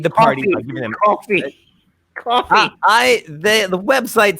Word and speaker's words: Ko-fi: Wi-Fi, so it feels like it should be coffee. It's Right? coffee, like the beverage. Ko-fi.